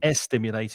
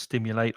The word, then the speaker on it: stimulate: So it's not Hmm. estimulate, it's just stimulate or a stimulant.